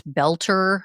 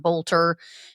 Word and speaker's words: Boelter: These have been released in the past couple days about Vance Belter. Um, and I apologize, I was apparently saying his name wrong. It's not Bolter.